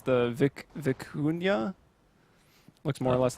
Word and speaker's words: vicuña: It's a relative of the llama, and I'm going to try to pronounce it. It's the vicuña.